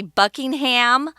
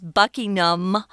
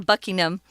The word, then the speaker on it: Buckingham: So the Duke of Buckingham, I know a lot of Americans often say Buckingham, but that's not how it's pronounced. It's Buckingham. Kind of swallow that ham, Buckingham.